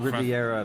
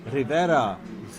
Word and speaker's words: Rivera: Not Riviera. This isn't a guy from the French Rivera. Rivera.